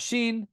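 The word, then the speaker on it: שין: And if the Masoretes put a dot on the top right, then you pronounce it as a sh sound. So you got sheen, sheen, sheen, sheen.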